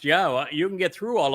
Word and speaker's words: Yahweh: And um and here is the evidence that Yahweh's name is pronounced Yahweh.